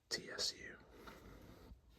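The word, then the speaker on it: ツ: If it is a normal size, the same size as all the other characters, then it is pronounced it's a tsu character. But, if it's slightly smaller as it is What that means is it adds an extra of the next consonant to the to the sound.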